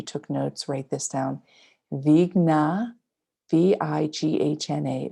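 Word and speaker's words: Vighna: Vigna. V-I-G-H-N-A. Vigna is the third word. Nashanaya is the fourth. Nashanaya. Namaha, which is to bow to. So Vigna and Nashanaya is to tower above.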